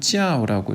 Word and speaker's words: 教: 그러면 이 교자를 중국에서는 찌아오라고 읽습니다. 사성으로요.